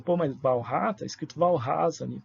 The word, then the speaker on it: Walras: Alguém pode dizer, pô, mas Walras, está escrito Walras ali, porque dizem as más línguas que é assim a pronúncia do sobrenome dele, né? Em francês é Walras, não Walras.